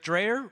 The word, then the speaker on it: Dreyer: My name's Dreyer, rhymes with Slayer, also rhymes with team player.